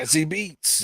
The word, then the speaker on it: Zazie Beetz: Oh, I think that's Zazzy the way it's pronounced. Beats. Yeah. Zazzy Beats.